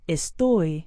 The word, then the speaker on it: estoy: i am very well estoy means i am try it with mauricio estoy muy bien estoy muy bien estoy muy bien notice the forceful sound on the last syllable of estoy practice it again with